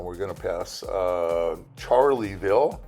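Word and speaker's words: Charleville: and uh we're getting up towards Wilshire again we've passed Gregory and we're going to pass uh charlieville spelled Charlesville but we pronounce it charlieville here for some reason as so you can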